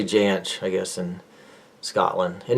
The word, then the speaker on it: Jansch: It's pronounced Jansh in Germany, where his family's from. His family moved from Hamburg, Germany, up to Glasgow. And, yeah, but they say Jansch, I guess, in Scotland.